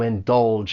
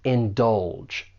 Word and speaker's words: indulge: For pronunciation, there are two syllables. The stress is on that second syllable, and that G has more of a J sound. Indulge.